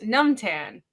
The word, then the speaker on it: Nam: Nam's name is pronounced Numan.